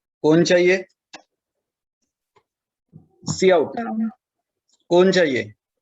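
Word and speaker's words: cout: सी आउट, pronunciation है सी आउट।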